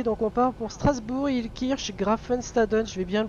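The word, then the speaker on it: Illkirch-Graffenstaden: Donc on part pour Strasbourg, Ilkirch, Grafenstaden. Je vais bien le prononcer parce que sinon je vais me faire taper sur les doigts par on sait qui.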